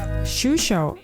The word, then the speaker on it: Xuixos: national pastry this one it's difficult to pronounce it's like sushi and let's taste whether the coffee is as good as they say shusho is very good but